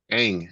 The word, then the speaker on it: Ang: This Cathy Ang is her sister. Ang is her sister. Sweet. You're just hanging it up. Yeah, Ang, A-N-G.